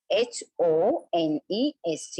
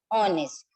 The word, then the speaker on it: honest: sound now this honest h-o-n-e-s-t you will say h is the consonant sound so why we should use a-n-n so my dear student this h is silent okay h is silent in honest while pronouncing we are